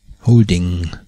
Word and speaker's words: holding: Dieses Lautzeichen spricht sich wie das deutsche NG, wie in Fangen. Holding.